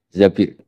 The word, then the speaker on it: Zabir: hadis ini bukan Mbak Bacanya bukan Zubair tapi Zabir. Abdurrahman bin Zabir.